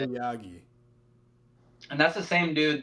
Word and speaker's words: Aoyagi: Takahashi, Aogi or Ayagi. I'm not sure how you say it. Aoyagi.